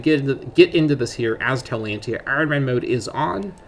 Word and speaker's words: Taulantia: So first of all, our name is Taulantia, and that is how I'm going to be pronouncing this. It's possible this could be pronounced alternatively, and I'm not sure if Tau is a very Latinized pronunciation, but again, considering that